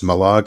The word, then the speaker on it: Mallaig: And it's Malag as well. Malag, Mallaig. Oh, Mallaig. I know where the lake is. But it's pronounced Malag.